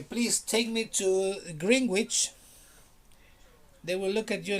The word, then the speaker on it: Greenwich: "No, no, I want to go to Greenwich." "No, there's no Greenwich here. Maybe you want to go to Greenwich."